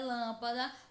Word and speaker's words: lâmpada: Para sabermos qual é a sílaba mais forte da palavra lâmpada, basta pronunciar lentamente. Lâmpada. Percebam que a sílaba que mais demora a ser pronunciada é lã. Lâmpada. Portanto, lã é a sílaba tônica.